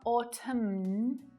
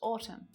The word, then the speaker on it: autumn: So just like silent B's, N is silent at the end of a word when it follows M. Dam, autumn, column, hymn, condemn, solemn. You don't hear it there at all. It's not autumn, just autumn.